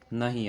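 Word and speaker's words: know: नो में के की साउंड नहीं आ रही तो के हमारा साइलेंट है।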